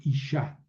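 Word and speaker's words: אִשָּׁה: La G al final no se pronuncia, entonces se escucha la terminación A, ¿verdad? Por ejemplo, Isha.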